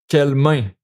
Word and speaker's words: quelle: Quelle main? Une main. Feminine. So this one. It's the same pronunciation. It's just the written version that is different.